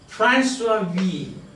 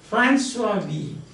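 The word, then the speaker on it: François Villon: His name is, in French, it is pronounced François Vie. It is written Francois Villon. In French it is François Vie.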